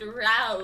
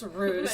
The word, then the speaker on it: ruse: It's pronounced rouse. I think it's ruse.